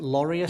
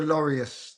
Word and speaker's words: Laureus: I can't I don't know how to pronounce this. Is it Laureus or something like that? Laureus.